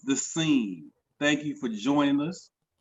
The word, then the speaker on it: THESCEN: No E on the end, but it's still pronounced The Scene.